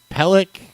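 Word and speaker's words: PelleK: I believe it's pronounced Pellic, P-E-L-L-E, capital K.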